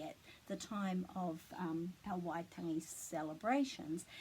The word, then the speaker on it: Waitangi: Waitangi. So this T is a bit flat. It's not tangi. Waitangi.